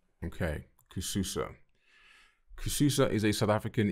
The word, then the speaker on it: Kususa: afrobeat techno and African music the duel's name pronounced kishusa is both a combination of the pair of